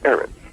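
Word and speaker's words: ארץ: When you study earth, according to my study tools, you'll understand that earth in Hebrew is Eretz, pronounced Eretz, E-R-E-T-S.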